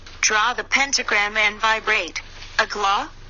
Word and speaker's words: AGLA: Agla. Pronounced Agayak.